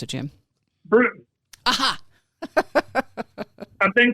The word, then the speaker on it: Bruton: How do I pronounce it, Jim? Bruton.